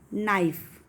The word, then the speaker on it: knife: Knife. K is silent.